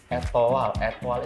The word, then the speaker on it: Etoile: Etoile itu tuh diambil dari bahasa Prancis. Ya. Sebenarnya bacanya bukan Etoile, tapi kayak Etoile.